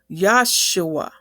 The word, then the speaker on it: Yeshua: this verse because in the 1611 Bible, Yeshua is spelled I E S H U A. But in the Hebrew, we would say Yesua.